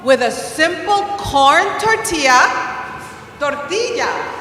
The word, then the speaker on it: tortilla: Tortilla has a double L. So I say tortilla, not tortilla.